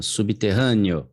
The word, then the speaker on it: subterrâneo: Subterrâneo. Subterrâneo ou subterrâneo? É neo. Ele é um neo.